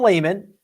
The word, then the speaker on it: Lehman: gosh a lot tom lehman the only guys uh the only guy on tour whose name almost who does rhyme with gaiman uh mark baldwin he's